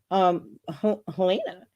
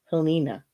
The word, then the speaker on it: Helena: So that's what I was calling your mom, Helena. And she goes, no, I just didn't have the courage to tell you that's not how you pronounce my name. Like, oh, it's Helena.